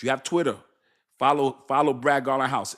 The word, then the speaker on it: Garlinghouse: It's B Garling House. And I'mma spell it for you. B G A R L I G H O U S E. So like Garling House, just like a house you live in.